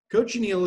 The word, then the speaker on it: cochineal: little bit about is cochineal and the way to remember how to pronounce it it's very tricky but is can you coach an eel my students always like